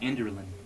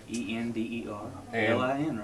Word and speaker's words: Enderlin: Yeah, this is Erin, and I want to make sure you say her name right. Enderlin, Enderlin, right?